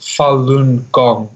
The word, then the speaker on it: Falun Gong: pack I see a Chinese culture discipline it's pronounced Falun Gong also known as yes Falun Gong you or Falun Dafa is the other name